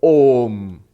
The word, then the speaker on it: Om: And if you put it together, A and U together by Sanskrit grammar becomes O. If you try to pronounce O, it becomes O. So Om.